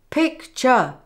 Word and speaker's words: picture: We don't stress both vowel sounds like this. Picture. We make the first syllable strong and the second weak, like this.